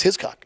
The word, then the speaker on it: Hiscock: Is that how you pronounce it? Is It's Hiscock.